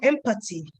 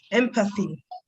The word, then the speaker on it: empathy: Someone said empathy. It's empathy. Empathy.